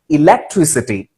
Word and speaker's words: electricity: ஆக்சுவலா இங்க எலக்ட்ரிசிட்டி இல்ல, இப்போ எலக்ட்ரிசிட்டி கிடையாது, electricity. Try to understand it. It is electricity. Electron, escape, elect, election. So உங்களுக்கு அந்த pronunciationல சில இடங்கள்ல A அப்படின்ற சத்தத்துல எலக்ட்ரான் அப்படின்ற